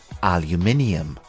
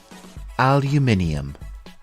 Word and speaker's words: aluminium: is aluminum aluminum and in British English it is called aluminium repeat after me aluminium it is interesting to